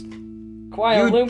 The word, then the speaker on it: Kuala Lumpur: At least I didn't mispronounce Kuala You Lumpur. did! You said Loompa! I know. You said Loompa, like an Oompa Loompa.